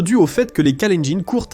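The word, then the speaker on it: Kalenjin: Cela peut-être dû au fait que les Callengin courtent à l'école tous les jours en haute altitude.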